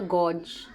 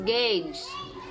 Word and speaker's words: gauge: number why was the gorge go gorge you why was the with langaisa i'm gonna like check wait so you see i check because it's wrong it's gage it's pronounced as gauge all right so why